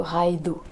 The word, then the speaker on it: Raidho: r&d h au et le dh ça se prononce comme le th anglais donc ce serait plutôt raido voilà je suis pas